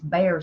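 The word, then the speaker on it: Behr: of the name, or it's Bear something or something Bear, but it's spelt different. B-E? No, it's. Yeah. I think it has an H in it. Okay. B-E-H-R.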